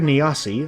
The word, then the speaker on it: Nasi: of the western version just for us Christopher Nasi I said it right that time sorry for mispronouncing it in my first video remade his